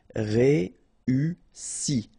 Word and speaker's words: réussi: Okay, first you get this E, then U and double S, so really strong S and E. Réussi.